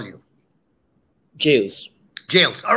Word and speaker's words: Jayles: name right but it's okay so it's called jails all right so what how is what is the uh absolute correct pronunciation how should i call you jails jails all right all right jails professor jails welcome to the show uh thank